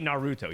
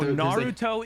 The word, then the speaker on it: Naruto: Nar wa no no you guys are saying narut no no Nar narut narut narut no you put the emphasis on the second Naruto really no it's like Nar it's like Naruto no Naruto is like the dubbed version Manar calm down control your rage Naruto that's like that's how they say it it just sounds so H